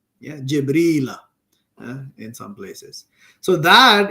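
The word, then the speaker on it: جبريل: his name is jibril in arabic the word gabriel is pronounced jibril jibril in some places so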